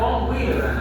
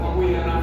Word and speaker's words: von Willebrand: Bueno, hay una enfermedad que reportada en humanos que se llama la enfermedad de von Willebrand.